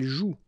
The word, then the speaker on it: joue: And it's exactly the same rule, so you've got this after, but then clearly you don't pronounce it. Okay, elle joue.